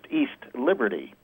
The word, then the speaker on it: East Liberty: are are inverted uh East Liberty is pronounced by those who don't know as if there were other Liberties there's no South Liberty it's just East Liberty with the accent on the East right yeah East but